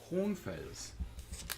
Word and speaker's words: Hohenfels: it almost sounds like you don't pronounce the H.